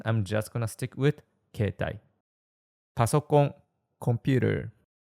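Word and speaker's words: 携帯: Keitai, cell phone. It's written as keitai, but we say keitai. You don't pronounce the e in kei. Instead, you stress the e sound a bit, like keitai, not keitai.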